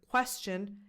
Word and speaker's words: question: The T in the word “question” is a .